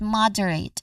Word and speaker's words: moderate: Now putting it together we get moderate. Again moderate the stress is on the first syllable mod.